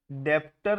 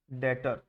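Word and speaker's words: debtor: क्या बोला जाता है डेप्टर नहीं बोलते बी साइलेंट होता है डेटर ठीक है तो एसेट्स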